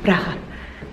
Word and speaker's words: Praha: I think you should say it like the Eastern European way, Praha.